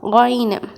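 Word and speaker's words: غين: அடுத்தது கொயினு. இது 19வது எழுத்து. இதற்கு மேலே ஒரே ஒரு புள்ளி இருக்கும். இதனுடைய உச்சரிப்பு என்ன அப்படின்னா கொயினு. இதுவும் ரொம்ப நெரிக்காமல் லைட்டாக தொண்டையிலேருந்து வெளிவரணும். கொயினு, கோ கோ, ஓகேவா?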